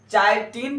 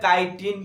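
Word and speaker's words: chitin: अच्छा अब हम बताए फंजाई के अंदर कि फंजाई के अंदर चाइटिन पर हो या काइटिन पर हो, दोनों ही प्रोनाउंस लिए जाते हैं, काइटिन या चाइटिन, ठीक है।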